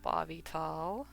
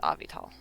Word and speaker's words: Avital: the letter is pronounced it's just it's avital even when i say my name people just don't seem to be able to see it i don't know why i'm like say ah like you're saying the letter v ah as in father v like you're